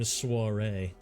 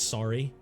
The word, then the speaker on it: soiree: I'm I I'm a little underdressed if I'm if I'm hosting this stream suare. I also like to pronounce it incorrectly and call it sorry.